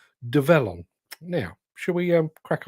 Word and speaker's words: Develon: I need to constantly remind myself that it's pronounced develon now should we um crack on with a